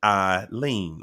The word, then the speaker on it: Eileen: said um just listen my name is pronounced I lean okay okay get it